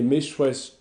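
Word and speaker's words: Meshwesh: trouve marqué en égyptien les méchouesses les méchouesses c'est la vraie prononciation du mot que nous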